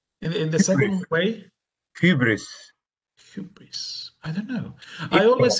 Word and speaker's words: hubris: gagarin and ed harris pronouncing the term the right way i mean the way i'm pronouncing myself uh hubris that's another clever question